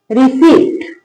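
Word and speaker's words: receipt: Spelling क्या लिखी है? आर ई सी आई पी टी। क्या पढ़ेंगे इसको? रिसीट। क्या पढ़ेंगे? रिसीट।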